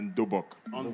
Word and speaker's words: dobok: Et je vais j'aimerais d'abord dire tout ceci qu'aujourd'hui vous avez vu Oan pas un kimono mais en Dobok premièrement d'accord en langue coréenne on dit dobok qui s'écrit D o b o k d b